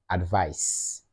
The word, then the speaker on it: advice: to the noun one that has the S sound at the end or the S sound at the end advice that's the noun for advice just as you say ice ice ice cream advice ice advice so now let's look at